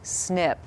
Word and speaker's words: SNP: When a gene variation affects only one genetic letter in its code, it is called a single nucleotide polymorphism, or SNP, which we pronounce SNP.